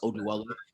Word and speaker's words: Oduwole: know my my last name which it's actually pronounced oh dweller um i want the odual a name okay